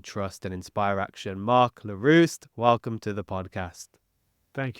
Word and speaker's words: Leruste: story to build trust and inspire action Mark lar welcome to the podcast thank you first of all congrats on pronouncing my name properly I've got to say